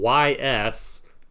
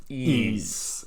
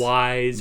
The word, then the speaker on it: Ys: So it's spelled YS. So for a long time, people had no idea how it was pronounced, but it is Ys. It is Ys. It's not Wise or Yes.